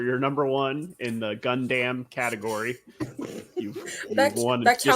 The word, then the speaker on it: Gundam: Javier, for your number one in the Gundam category, you've won That's this how they pie. pronounce it too. They pronounce it Gundam.